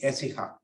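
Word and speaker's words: Écija: in a nunnery in essiha we call it but in proper Spanish Accent on the first syllable it's very fine yeah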